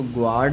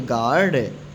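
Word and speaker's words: guard: आवाज़] unit mu mute अगर यू जा और किसी वोवेल के बीच में हो तो साइलेंट रहता है। जैसे जी यू ए आर डी गार्ड तो यह जी है और इधर वोवेल आ गया है ना कोई भी वोवेल हो सकता है किसी वोवेल के बीच में तो ये यू साइलेंट हो गया इसको गॉड नहीं पढ़ेंगे क्या पढ़ेंगे गार्ड यू साइलेंट है जी यू ई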